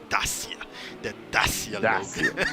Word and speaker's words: Dacia: The The sir, sir, you need to pronounce it correctly. It's Dacia.